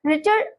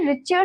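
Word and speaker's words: Richter: इसे रिचर scale नहीं बोलेंगे। इसको क्या प्रोनाउंस करेंगे हम? रिटर scale.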